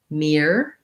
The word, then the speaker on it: mirror: so so mir er has the ear diphthong in the first part and it has just an er for these letters or and so the spelling might be part of what's challenging and then of course going from ear to er is quite hard um double er sounds so just trying the